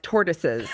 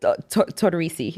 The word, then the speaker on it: Tortorice: I used to butcher that name. I was like, tortoises, torta, tortellini. Yeah. How do you pronounce it? Tortorice. Tortorice. It's so good.